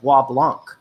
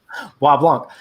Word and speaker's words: Bois Blanc: it's an island called Bois Blanc. But Americans didn't know how to pronounce that, so they actually called it Pablo because they couldn't speak French. And it they couldn't speak French. Bois Blanc.